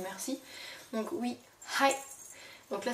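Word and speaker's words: はい: n merci donc oui hi donc là c'est très important aussi de bien prononcer le H parce que hi ça veut dire oui mais a ça veut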